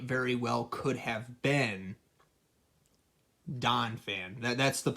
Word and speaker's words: Donphan: well could have been Donphan. That's the I was mispronouncing it. I thought it was Dolphin, but I knew it was probably Donphan or something like that.